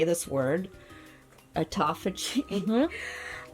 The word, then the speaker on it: autophagy: autophagy You said it right, autophagy.